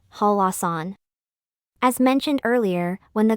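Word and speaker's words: 한라산: the second syllable therefore instead of reading it as hanran it should be read as halasan as mentioned earlier when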